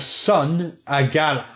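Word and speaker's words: Sun'Agalla: Iron Monolith and the Tomb of Sun Agala. Sun Agala is spelled S-U-N, new word, A, apostrophe, G-A-L-L-A.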